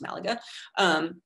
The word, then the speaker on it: Malaga: You see the case of Malaga, it's actually pronounced Malaga, early on being remote, in the early 20th century, a sort of remote outpost of the city.